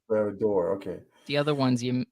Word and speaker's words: Barad-dûr: Barad-dûr. You got that Bar- one pretty close. Barad-dûr.